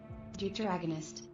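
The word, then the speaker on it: deuteragonist: Duteragonist. Duteragonist. Okay. With a hard T.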